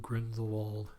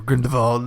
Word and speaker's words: Grindelwald: I went and saw Fantastic Beasts: The Crimes of Grindelwald, or Grindelwald, depending on who pronounces it in the movie. Yeah, I was gonna say that half of them would say Wald and half of them would say Wald.